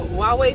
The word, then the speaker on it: Huawei: Somebody has a Huawei phone, so the H is silent. They have a Huawei phone and their phone takes excellent pictures.